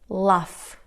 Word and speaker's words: laugh: Tough, rough, cuff, laugh, enough. Good job. Estas palabras lo que tienen en común es que la combinación GH se pronuncia como F, ¿ok?